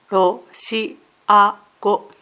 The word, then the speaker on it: ロシア語: ROSHIAGO DE TOMODACHI TO HANASHIMASU」 "I speak Russian with my friends" "Russian" is ロシア語ROSHIAGO mora is 4 RO - SHI - A - GO 「アラビア語で社員と話します。